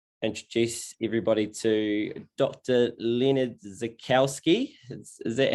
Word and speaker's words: Zaichkowsky: Leonard Zaichkowsky. Is that how you have? That's how you pronounce it.